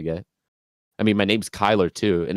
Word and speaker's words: Kyler: I mean my name's Kyler too and everyone thinks I say Tyler when I first say my name it's like oh Tyler it's like no I the only person